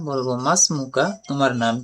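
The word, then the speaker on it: ما اسمك: এখানে মাসমুকা ইয়া ওয়ালাদ, এখানে যে আলিফটা উচ্চারণ হয় না, এর শুরুতে কোনো শব্দ আসলে। মা ইসমুকা, এমন পড়বো না, বলবো মাসমুকা, তোমার নাম কি।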